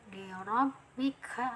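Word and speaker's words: لِرَبِّكَ: Nah, ditekan lagi ya karena ada tahdid. Liorobika. Nah, untuk makhraj kaf ini ada anginnya juga nih, dia masuk huruf hamas, ada aliran angin.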